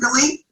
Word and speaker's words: Galit: Is that how you pronounce it, Galit?